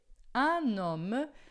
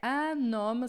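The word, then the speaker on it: un homme: Anom. Atenção com a pronúncia é anoma. Você pode juntar a noma aqui, ó. Vai juntar o N no O, tá?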